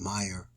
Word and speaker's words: Myer: of Rabbi yok mayor Mayer he pronounced it Meer moras